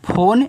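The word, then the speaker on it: phone: ही होगा चलो पी एच ओ एन ई इसको पढ़ते हैं फोन यह एक इंग्लिश वर्ड है तो पी एच से फ ओ से ओ की मात्रा एन से ना फोन यहां इ का उच्चारण नहीं होगा।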